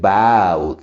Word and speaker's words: bowed: Y como les mencionaba, si no acaba en TED o en DED, entonces la E jamás suena y nomás nos vamos hasta la D. Y es bowed, mantiene la cantidad de sílabas.